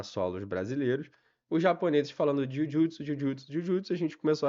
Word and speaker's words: jujutsu: Porque J, em japonês, tem o som de DJ, pra gente seria DJ. Então, o Jujutsu se pronuncia Jujutsu.